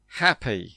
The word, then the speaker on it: happy: Like, how do you say h A P Y? Happy. So, the Y is an E sound. Yeah, it is an E sound. Long E. Happy. But if you say G